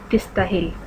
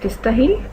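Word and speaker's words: تستاهل: ساتھ کہتے ہیں مبروک تستاہل۔ اماراتی لہجے میں تستاہل اور ویسے تستاہل، مبروک تستاہل، مبروک تستاہل یا تستاہل، کنگریچولیشنز یو ڈیزرو، مبارک ہو آپ اس کے مستحق ہیں، تستاہل ڈیزرو۔ مع السلامہ، زیربک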